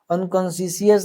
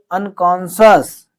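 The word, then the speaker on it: unconscious: अनकॉन्शसियस नहीं है। यही तो है आप लोगों का प्रोनाउंसिएशन लेवल। इसको पढ़ेंगे अनकॉन्शियस।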